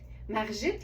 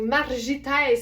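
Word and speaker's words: Margittes: Ça s'écrit M-A-R-G-I-T-T-E-S. Margit. Ou Margites, mais c'est pas de même, ça se dit, je suis certaine.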